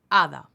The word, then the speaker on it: hada: H, hada. H is silent.